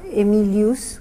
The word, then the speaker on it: Aemilius: motor que es Gonzalo emilius un apellido que empieza con a e pero se pronuncia e Gonzalo Emilio Gonzalo